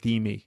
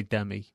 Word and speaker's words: Demi: Moore be me that she pronounces it D me really it's an angry if people say Demi really yeah so wrap